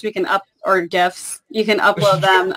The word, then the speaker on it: GIF: when we cut those GIFs, we can GIFs, you can upload them. Hard G, come on. Hard G. The GIFs. The creator said it's GIF, so that's why I'm GIF.